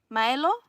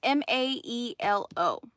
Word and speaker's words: Maelo: His name is, I feel like I always say it wrong, and I don't mean to. Milo? It's Maelo.